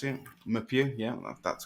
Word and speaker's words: Meupiyou: it's Bastian muu I think that's how you pronounce it muu yeah that's correct basan your focus on theame